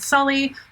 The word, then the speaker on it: Shelly: Um because they subsequently have a conversation that that particular cultist in the credits it has his name listed as Shelly. Most of the characters pronounce it Sully. Choose your own adventure on that.